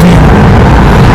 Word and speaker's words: Wien: It's spelled Wiener. It's pronounced Vienna. Oh, because they say V.